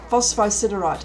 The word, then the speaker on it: phosphosiderite: gives it its name so phosphorus says phospho and then ciderite phosphoside right okay now i know how to say it ciderite means iron